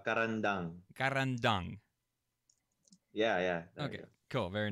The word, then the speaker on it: Carandang: like I'm pronouncing that can you say it at least one time to see if I can get it right eventually if you do it's easy it's a caravan dung yeah yeah ok cool